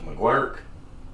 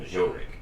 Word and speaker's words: McGuirk: Now the guy that followed him was McGuirk. Mm-hmm. Is that how you pronounce it? So that was going Majoric. That was French there, didn't it? Yeah, Majoric. And me and Matt found out it was McGuirk.